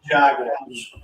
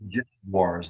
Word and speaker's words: Jaguars: The Jacksonville, it's Jaguars, lady. It's not a Jaguar. It's a Jaguar. Not a Jaguar. It's a Jaguar. Let's give the European fans a little credit. Jaguar is how they say it over there in England, and there's a lot of Jags fans there.